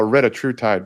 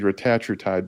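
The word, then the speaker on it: retatrutide: hits different receptors the retatriutide which people call retatride but it's it should be retatriotide based on the pronunciations doesn't matter but GLP-1 gip and glucagon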